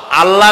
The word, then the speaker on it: আল্লাহ: নাম আল্লাহ বলেন তো আল্লাহ নয় কিন্তু আল্লাহ হচ্ছে অশুদ্ধ শুদ্ধ হচ্ছে আল্লাহ বলার সময় মুখটা গোল হয়ে যাবে বলেন তো সবাই উচ্চারণ